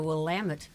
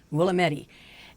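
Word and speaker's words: Willamette: And it is the Wamut River in the Wamut Valley in Oregon, not Oregon and not Willi.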